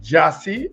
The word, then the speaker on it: Gyasi: It's Jassy, let me pronounce it correct. Jassy, so it's Gyasi.